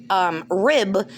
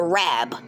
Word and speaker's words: Rab: It's not Amanda Rib, it's Amanda Rab.